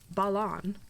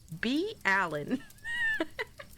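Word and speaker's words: Balan: She went to her brother Balon. Balon. Balon. Not Balon. Bruge. Her brother Balon. B. It's Allen but with a B.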